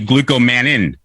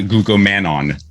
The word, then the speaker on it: glucomannan: have mine right here it's actually glucomannan not glucomannon this is the one